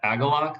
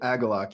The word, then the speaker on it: Agalloch: really liked it um yeah super cool a aalok that's how you pronounce it aalok yeah I think walking through the forest is